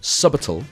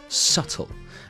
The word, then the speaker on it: subtle: So there's the B is silent. It's not subtle, it's subtle.